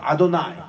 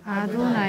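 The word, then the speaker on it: אדני: 유대인들은 지금도 요드 A 바오 A를 뭐라고 부르냐니 아도나이로 읽어요. 주님 아도나이. 따라합시다. 아도나이. 아도나이. 그렇게 읽어요.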